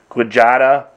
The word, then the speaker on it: Quijada: So I guess the old way of saying it back in the day was Quijada, spelled actually Q-U-I-J-A-D-A, Quijada.